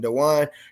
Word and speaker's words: Dejuan: So before we get into our conversation today, the episode is brought to you by Christian Dewan.